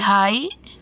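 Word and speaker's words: はい: Kenneth is a teacher so how do you say yes and no in Japanese when saying suc hi h AI when saying no you say ear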